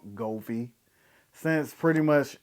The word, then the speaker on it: Govee: all everything since there's GOI I mean I'm sorry I pronounced it wrong goie since pretty much it's